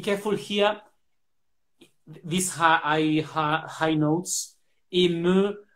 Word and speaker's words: ému: Ému, we don't understand very well, but I know it's difficult because of these high notes. Ému, but you can open more, so it's difficult to pronounce well here.